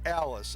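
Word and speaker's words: Ales: isaac alice number 52 the way that's pronounced isaac alice a-l-e-s makes the tackle let's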